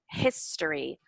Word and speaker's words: history: The stress on a different part of the syllable. So I just wanted you to hear annual, appreciate, history, governor, contributed, where the stress goes on those words.